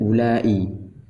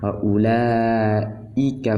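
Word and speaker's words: أولئك: Kemudian ulai dan uli ini yang di isim isyarah seperti ulaika humul muflihun. U-nya ini tidak panjang, bukan ula tapi ulaika humul muflihun. Ditulis namun tidak diucapkan.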